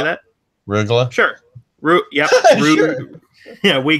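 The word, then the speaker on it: Rögle: Rugla.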